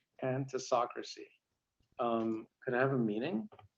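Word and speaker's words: pantisocracy: All right, speller number 23, your word is pantasocracy. Pantasocracy. Could I have a meaning? Yes, pantasocracy is a utopian community in which all rule equally.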